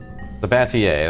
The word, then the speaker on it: Sabatier: Have a chemical plant running I'm gonna look up how to pronounce this word. Sabatier, that's what I assumed.